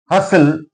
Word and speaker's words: hustle: Hustle T is silent here.